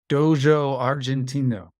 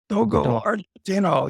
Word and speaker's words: Dogo Argentino: what's your take on I'll say it right Dojo Argentino Dogo Argentino yes that is a mighty